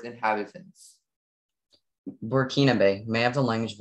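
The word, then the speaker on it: Burkinabe: hello hello your word is werekinabe murkinabe may have the definition burkina bay means relating to the landlocked republic in western africa or its inhabitants burkina bay may have the language of origin please working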